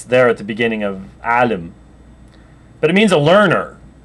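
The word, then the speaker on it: عالم: the end of sh that is not easy for English speakers to pronounce it comes across sounding rather harsh um and um it's there at the beginning of Alim but it means a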